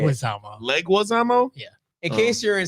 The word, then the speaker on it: Leguizamo: Legazamo. No, That's it's not how you say it. Leguizamo.